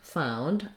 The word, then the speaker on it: found: t sound okay then looking at the past tense of find found i found it same thing is going to happen where i'm going to link found it and the oh you sound says the ow vowel so i sometimes rewrite that this way it's also a diphthong he found it the